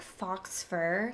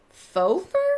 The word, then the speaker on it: faux fur: She told me that she had, like, a coat, and she's like, well, it's like fox fur. It's like fox fur. And I'm like, do you mean faux fur?